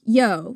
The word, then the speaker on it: Io: That's spelled I-O, Saturnalia. And it's pronounced yo, right, Jen? Yep, it's pronounced yo.